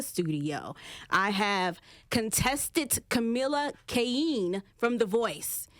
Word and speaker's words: Keinhe: Did I say your last name correctly? Keinhe. Wait. Yes, okay, say it one more time. Keinhe. Keinhe. I added an extra syllable, I feel like I did.